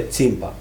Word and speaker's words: Tsimpa: Foi uma grande honra para mim no teatro foi ter apresentado a história Kimpavita, que na verdade é Tsimpa, não é Kimpa, é Tsimpa.